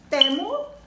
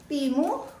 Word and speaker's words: Temu: meron pa akong inorder sa ano bang tamang pronunciation temu timu kasi sa mga vlogger may naririnig akong temu